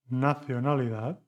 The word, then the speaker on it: nacionalidad: 4, nacionalidad, suena como cero.